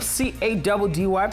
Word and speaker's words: Caddy: Your two hosts for today, I go by the name of CADDY, pronounced Caddy, and I'm now, Grant.